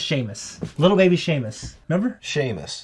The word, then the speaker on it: Seamus: yeah Sheamus they probably you say Seamus Seamus it's spelled Seamus is pronounced Sheamus little baby Sheamus remember